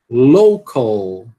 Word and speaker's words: local: Estão conseguindo escutar o L final aqui? Tem que ser pronunciado, né? Local. Né? E você não vai aspirar esse C, né? Por quê? Porque ele não é numa sílaba tônica.